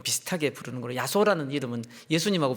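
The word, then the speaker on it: 耶穌: 성경에는 어떻게 기록되어 있었냐면 야소 기독이라고 야소 기도 야소라는 것은 그 중국식으로 이제 그 예수를 발음하면서 기록했더니 그게 이제 우리 우리 중 한자 발음으로 야소가 된 거죠 그래서 우리 한국교회 초기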